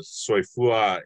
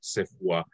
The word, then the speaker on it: soifua: a while now so sefu is actually not a word but uh soifua is so soifua is often heard as sephwa and that's where that mispronunciation comes from so a lot of